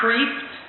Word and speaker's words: Kreeft: So, Peter Kreeft, which I think that's how you pronounce it, K-R-E-E-F-T. It's either Kreeft or Kreeft, but I like the sound of Kreeft better.